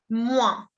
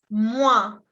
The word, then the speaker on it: moins: Y esa palabra es moins. Moins. La O-I-N se pronuncia ouin. Ouin. Moins. ¿Ok? Y la S no se pronuncia.